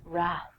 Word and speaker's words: wrath: Trek fans out there, Wrath. Famously, the Wrath of Khan. I have no idea what the Wrath of Khan is, but I will tell you that the W is silent, so don't say it.